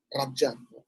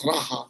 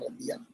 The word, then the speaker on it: raja: you use the word Raja, which we tend to mispronounce as Raha, which is the Spanish pronunciation of the letter J. So that's why we say Raha, but it's actually Raja or Radia.